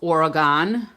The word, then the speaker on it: Oregon: It's spelled Oregon, but locals there say it Oregon. So it's not organ like a piano organ, but anyway.